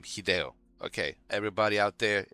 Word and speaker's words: Hideo: That's how you pronounce his name. Hideo. Okay, everybody out there. It's Hideo.